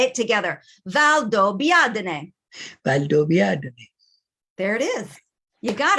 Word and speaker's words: Valdobbiadene: beginning so say valdo now say it together valdo biadne there it is you got it that's how we pronounce it and what you'll notice i think